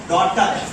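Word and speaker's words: daughter: डॉ और ये ट डॉटर इसको हम डॉटर पढ़ेंगे डॉग टक नहीं पढ़ेंगे जी एच का उच्चारण नहीं करेंगे ठीक है इसी तरह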